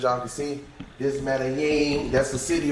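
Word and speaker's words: Medellín: Medellin. You gotta throw this in there. Medellin. Medellin. For those of you that don't know how to say it, that's the proper way of saying it.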